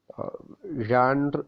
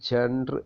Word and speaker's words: genre: introduction to film റാണ്ടൻ ഴാൻ എന്നാണ് അത് ഉച്ചരിക്കൽ ചില ആളുകളൊക്കെ ജാൻ എന്ന് ഉച്ചരിക്കുന്നുണ്ട് ഈ ഒരു വാക്ക് ഒരു